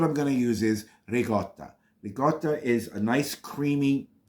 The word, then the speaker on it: ricotta: other types of pastas it's pronounced regotta it's not regot it's not Regatta it's regotta that's the per the correct pronunciation of that word they always leave out the a it's not rigat Regatta regotta put the a at the end the way you see